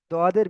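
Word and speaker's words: ض: জদ দেওয়া রয়েছে, জদ, কিন্তু জদ হবে না ওটা। এর এটা জদ এবং দদের বীজখান থেকে হয়, কিন্তু দদের দিকে গেলে কোনো অসুবিধা নেই, ডাইরেক্ট জদ বললে অসুবিধা হয়ে যাবে, বুঝতে পেরেছেন? তো এর উচ্চারণ হবে দদ, দদ।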